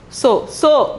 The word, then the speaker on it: सो: So pronunciation is so.